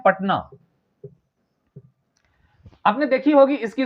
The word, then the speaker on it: पटना: इसलिए हो रहा है क्योंकि हम पटना नहीं कहते हम पटना कहते हैं यानी टी के साथ वाले ए का उच्चारण नहीं होता और चूंकि तब के